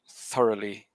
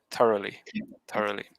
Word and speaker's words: thoroughly: word stress so it's thoroughly not i think you stressed like maybe the second syllable but it should be the first thoroughly yeah so stress the